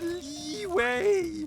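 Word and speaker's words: Liyue: ] up or what it's pronounced leeway Lee waste your time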